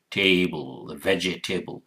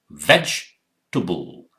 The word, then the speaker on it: vegetable: spelling, it sounds like vegetable, but this is not how it's pronounced. You have to look at these symbols. Ve, remember, bite your lower lip and say ve, j, veg.